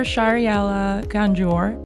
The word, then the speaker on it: Shahriela Ganjoor: Shahriela Ganjoor. Am I saying it correctly? Yes, you pronounced it perfectly, Jamie.